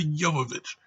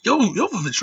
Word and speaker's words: Jovovich: Mila Jovovich. Yeah. The girl's Russian. I mean, how the hell you going to pronounce that name? It's Jovovich, right?